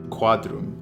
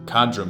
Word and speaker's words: Quadrum: Quadrum. At long last, we get to pronounce the Q. Cadrum would be crazy.